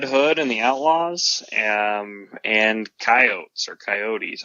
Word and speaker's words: Coyote: Wile E. Coyote because Wile E. does rhyme with Coyote.